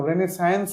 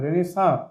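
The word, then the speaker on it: Renaissance: আয়ারল্যান্ডের যে সাহিত্যিক, লিটারেচার থেকে লিটারারি মানে সাহিত্যিক, রেনেসাঁ কথার অর্থ হচ্ছে রেনেসাঁ, উচ্চারণ দেখো, রেনেসায়েন্স নয়, রেনেসাঁ।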